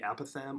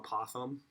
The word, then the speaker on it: apothem: the length of the a Pithom or apothem there were different print pronunciations I apologize I'm gonna probably choose both a Pithom or apothem and I have to